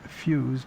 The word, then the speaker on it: Feuz: This, according to Stephen Feuz, but it's spelled f e u z, family name.